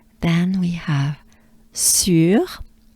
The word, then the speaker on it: sur: Then we have sur. So now this is the trickiest, I believe, French sound to pronounce. U.